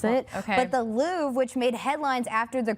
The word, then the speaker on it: Louvre: Yeah, Babbel says the correct pronunciation is the Louvre with a very soft pronunciation on the R. As you know, I went to the Louvre this year, and I also speak French, so I knew that one.